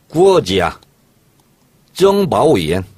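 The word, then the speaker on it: 国家情报院: 국가정보원은 중국식 발음을 이렇게 합니다. 어떻게 합니까? 구어지야. 정바오이엔.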